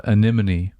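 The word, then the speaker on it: Anemone: Uh, Aneim, which I figured out is how you pronounce it.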